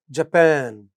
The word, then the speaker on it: Japan: So Argentina is Argentina, India is India, but Nepal, second syllable. Japan, end of the word. Nepal, end of the word. Brazil, end of the word.